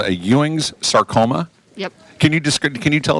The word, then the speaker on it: Ewing: You have or had what's called a Ewings sarcoma. Yep. Can you tell us what a Ewings sarcoma is? It pronounced Ewing? Mm-hmm. Yep. Ewings. Like J.R. Ewing?